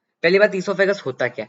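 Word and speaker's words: oesophagus: अब इसको बहुत लोग ओ ईसोफेगस पढ़ते हैं। ये ओ ईसोफेगस नहीं होता, इसको ओ साइलेंट रहता है। इसको हम पढ़ते हैं ईसोफेगस, ठीक है।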